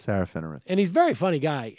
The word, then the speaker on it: Serafinowicz: hope uh Safar W what you can you pronounce his name for me please Peter sarowitz sarowitz right sarahh finwiz and he's very funny guy and there was